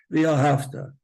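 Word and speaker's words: וְאָהַבְתָּ: V'ahavta. It's v'ahavta with a vase.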